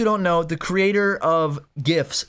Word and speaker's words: GIF: for those who don't know the creator of gifts said that it's pronounced jiff he's been saying he doesn't know [ __